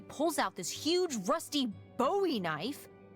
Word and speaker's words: Bowie: no warning, he pulls out this huge rusty Bowie knife. It's actually pronounced Buoie. What? No, it's like the last name like David Bowie. Different last name. Buoy.